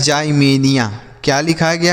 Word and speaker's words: Ximenia: XI से पढ़ेंगे जाई, हम इसे पढ़ेंगे में, और NIA से पढ़ेंगे निया। तो लिखा है जाइमेनिया। क्या लिखा गया है बच्चों? जाइमेनिया।